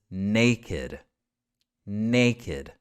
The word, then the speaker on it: naked: is one of those exceptions this one is naked naked let's take a look at number eight the